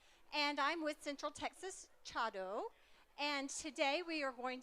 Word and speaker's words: Chado: you are familiar with Chado? Some of you may have heard it referred to as Sado, the difference in pronunciation being the school of tea that you practice. So how many of you